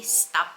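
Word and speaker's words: STAP: Kung alam niyo yung stop budget, yung sa mga nasa Netherlands, yung stop, S-T-A-P, stop ang pag-pronounce dito.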